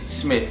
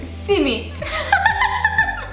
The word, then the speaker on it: Smith: So my last name is Smith. How do you say Smith? Simit. I don't get it.